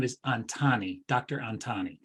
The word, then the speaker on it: Antani: of starting and scaling up i may have butchered your name but last name is antani dr antani correct antani antani so um